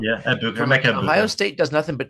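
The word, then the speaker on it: Egbuka: I always say his name wrong. Yeah, Ikbuka.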